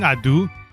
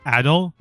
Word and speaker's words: Ado: Um, I went to the Adu or I I keep saying Adu, but it's probably Ado.